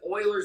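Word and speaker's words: Euler: e is used as Oiler number or uler depending on who you ask and how they pronounce it like Euro and hero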